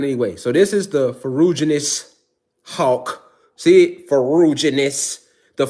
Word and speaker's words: ferruginous: This is how you pronounce it. Ferruginous hawk.